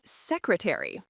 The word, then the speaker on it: secretary: Listen to the pronunciation of secretary. The A is short. Say secretary.